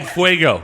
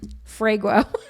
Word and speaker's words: fuego: Ask Jason to say fuego. He just tried. Fuego. Thank you. Did I say it right now? Yes. Now ask her to say the word. Frago.